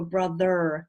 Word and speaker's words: brother: it's for my accent I go brother and so do American people but yeah you've got schwa right there at the end not in the first